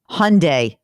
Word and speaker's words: Hyundai: read spots for them Hyundai rhymes with Sunday that's what they always